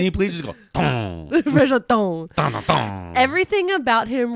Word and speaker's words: Franchot: He's French. It's Franchot. Frank Shout. Franchot.